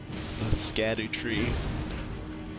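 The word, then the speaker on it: Scadutree: the foot of the Scadoo tree. Scadoo tree. I got to hear somebody say that word soon or I'm going to lose my mind. Scatter tree. Scatter tree. People always say it like scatter.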